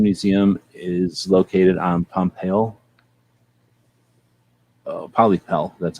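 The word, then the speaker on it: Pollepel: Polypel, that's how they say it.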